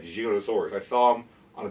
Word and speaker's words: Giganotosaurus: I know it's pronounced, people say Giganotosaurus because of Jurassic World, but Rodolfo Correa, who's one of the namers of the animal, refers to it as Giganotosaurus.